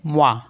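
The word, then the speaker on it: moi: ओ आई तो एम ओ आई को पढ़ेंगे मवा म मीस होता है मी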